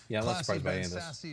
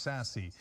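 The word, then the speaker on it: Sasse: us later as well sassy has won re-election in nebraska um of course trump 2020 nor is his last name pronounced sassy nor is he sassy right uh it's ben sass the republican senator from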